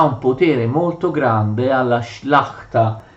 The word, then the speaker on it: Szlachta: In realtà era molto numerosa, numericamente molto grande, perché la Szlachta comprendeva sia la grande sia la piccola nobiltà. Ecco, io ho scritto qua come si scrive in polacco, si pronuncia Szlachta.